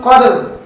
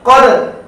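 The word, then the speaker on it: قدر: অনেকে বলেন কদর, লাইলাতুল কদর না, লাইলাতুল কদর না, ওটা বাংলা হয়। খুব মনোযোগ সহকারে লক্ষ্য করুন। কফ, দাল, র, জবর, কদর, কদর, কদর, কদর। কলকলা পাশাপাশি রয়ের উচ্চারণটা আপনার রাখতে হবে। কদর, আমারটা লক্ষ্য করুন।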